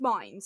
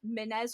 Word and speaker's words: Mines: So, like, it's mines. So, like, land mines kind of thing. But they used to refuse to believe it was mine. So it was, like, Minez or Minez.